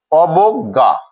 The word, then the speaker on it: অবজ্ঞা: অবজ্ঞা এই শব্দটিতে আমরা দেখছি ব এর সাথে অকার রয়েছে, এর পরে জয় রয়েছে, যার জন্য এর উচ্চারণটি হবে অবজ্ঞা। অবজ্ঞা।